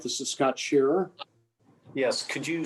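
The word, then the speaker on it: Scherer: beneficial to the community thank you um mr shearer or mrs griffith do you have a comment please yes uh thank you mr chairman uh can you hear me all right this is scott shearer yes could you spell your last name for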